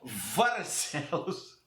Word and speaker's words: Barcelos: Seria uma pronúncia mais correta, seria Varcelos, que é uma das cidades que pode ter sido a cidade onde nasceu o Gil Vicente.